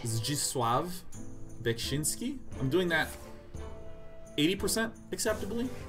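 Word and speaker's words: Zdzisław Beksiński: It is pronounced Zdzisław Bekshinski.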